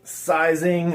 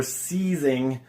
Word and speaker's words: sizing: And they would use what is called, again, I've heard it pronounced both sizing or seizing, but this is basically, it's a glue.